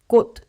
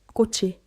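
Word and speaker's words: 꽃: So, the rule of thumb, alone, these endings all stop as d. Before most vowels, they slide forward. Just remember, t and d turn into ch and ch before i.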